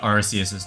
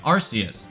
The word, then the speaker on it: Arceus: You wouldn't say Arceus system or Arce phone, so why would you pronounce the Pokemon's name Arceus?